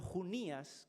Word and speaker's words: Junías: Pero Junías, que lleva un acento en la I, en esta versión no, pero en otras traducciones aparece Junías con acento en la I, sería hombre.